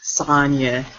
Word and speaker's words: Sonia: You are above me, so you pronounce it Sonia. Yes, Sonia. Okay, for all you people who are ignorant like me and thought it was Sonia, stop yourself because it's Sonia.